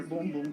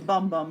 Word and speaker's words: Boom Boom: products or like their boom-boom cream yes not pronounced a bum bum it's a boom-boom boom-boom and this is